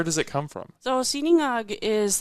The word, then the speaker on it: sinangag: but there's a Filipino dish called, is it sinangag? There's... What the garlic croissant is based off of. Oh, it's called sinangag.